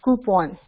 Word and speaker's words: coupon: It's not coupon, it's coupon.